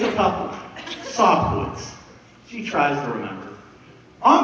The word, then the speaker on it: Sobkiewicz: say your last name it's a tough one sof Woods she tries to remember on the way home